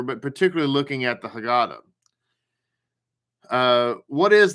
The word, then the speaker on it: Haggadah: particularly looking at the haggadah uh what is the haggadah or the haggadah however you want to pronounce it and the answer to